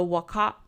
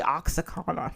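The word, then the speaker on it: Oaxaca: I said it wrong this is the Waka I knew I was going to say wrong to I was like don't say it wrong don't say oxyon that's what I want to keep saying I know it's wrong answer to mole po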